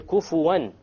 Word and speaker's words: كُفُوًا أَحَدٌ: And the last point here, kufuwan. How did we pronounce the noon there? Clear. Idhar, clear. Why? Because what is after it? Afterwards, The hamza.